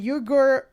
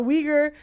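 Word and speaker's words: Uyghur: a congressional report titled fast fashion and the yugur genocide Jesus Christ yes I'm sorry I did not know we were going to get weager genocide weager yeah sorry I was like I'm I'm just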